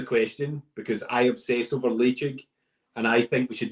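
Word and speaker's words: Ledaig: I don't really know how to pronounce. What's peated Tobermory called? Leitchig.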